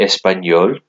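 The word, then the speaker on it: espagnole: Whereas Sarah est espagnol, pronounced the same, but there's an E at the end when you write it.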